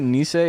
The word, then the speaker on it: Nissi: Is it Nissi? Is that how it's pronounced though? It's not N. It's got a sick mustache, though. man. That sucks. Nissi is correct.